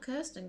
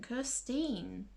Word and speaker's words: Kirstine: Not Kirsten, Kirstine, they say her name is.